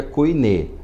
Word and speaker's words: koiné: A gente entende que é koiné, porque o eta, que é equivale ao nosso e, ele se pronuncia com o e fechado, não o e aberto com o sinal do acento agudo, e sim como se nós tivéssemos o acento circunflexo nele.